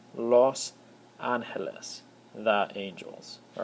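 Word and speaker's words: Los Ángeles: Angeles all right however it's not in Spanish it's not Los Angeles the O makes an o sound and so it's Los aneles the angels all right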